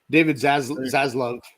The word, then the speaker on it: David Zaslav: David Zaslav.